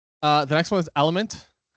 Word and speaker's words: LMNT: The next one is Element. I called them LMNT when I call them up to the stage. You'll see this in the thing, but they pronounce it Element, and they do text to speech.